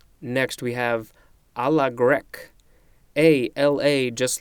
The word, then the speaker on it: grecque: Next we have a la grecque. A-L-A, just like a la mode, a la carte. No, a la mode isn't in here. Wait, it is coming up. Just like a la carte, grecque is spelled G-R-E-C-Q-U-E.